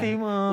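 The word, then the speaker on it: Tymon: Kan bacanya Josh Timon. Ya Josh Timon.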